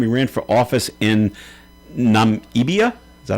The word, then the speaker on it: Namibia: got 85% of the vote for the first time he ran for office in Namibia. Is that how you say it? Namibia.